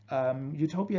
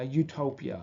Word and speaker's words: Utopia: doesn't really exist but if we pronounce uh Utopia in English uh it sounds like you Topia um it could also